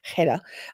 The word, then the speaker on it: Hedda: Hedda from South Africa, and I've only just very recently learned how to say her name properly. I'm so proud of myself. Hedda.